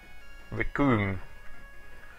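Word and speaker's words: Recoome: to note's name is the Japanese pronunciation of cream ricoom so that's why he's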